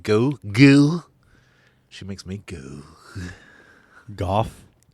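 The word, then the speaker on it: Gough: Goff. GH is pronounced F? Goff. Sometimes it is.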